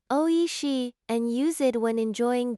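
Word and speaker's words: おいしい: Pronounce it oishi and use it when enjoying Japanese cuisine.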